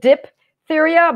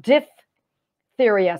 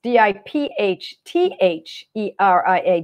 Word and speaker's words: diphtheria: I know some people pronounce it dip diphtheria, but I see it as D-I-P-H. So I make the P-H like an F sound, diphtheria. So it's D-I-P-H-T-H-E-R-I-A, diphtheria.